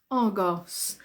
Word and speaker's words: Argos: are Goss Argos Argos Argos yes that o makes the sound ah Argos Argos and Argos is